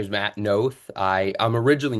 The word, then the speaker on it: Knoth: But it's not Nov, it's Knoth.